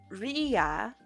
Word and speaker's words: Ria: For pronunciation, Ria, I understand. Rhymes with Sia.